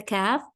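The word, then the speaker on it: ك: your tongue upwards and to pronounce the calf the tongue is going to be in our normal position okay then we have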